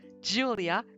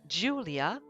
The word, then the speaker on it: Julia: In English, you would say Julia. In Spanish, you would say Julia. And in German, you say Julia. So Julia is the most accurate pronunciation of my name in my native language.